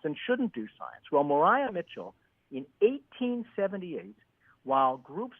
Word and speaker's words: Maria: Eclipse in 1878 and Mitchell who actually pronounced her name Mariah so Mariah Mitchell spelled Maria she was